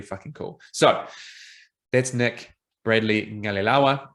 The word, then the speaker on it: Bradley-Qalilawa: So that's Nick Bradley-Qalilawa. There's me doing my best to pronounce the way in which you pronounce his name, the Q in Fijian.